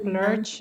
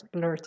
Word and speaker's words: blurt: which one very good i thought you said blurge i just wanted to make sure yes blurt yes blurt is the correct pronunciation can you give me